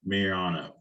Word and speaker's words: Mayorano: I reached out to Carmen to how to pronounce his last name, and he said it's like I'm the mayor of the Anos. So Carmen Mayorano.